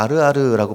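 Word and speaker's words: ערער: 여기서 빈궁한 자로 번역된 히브리어를 보니까 아르아르라고 발음하는 것을 보게 됩니다.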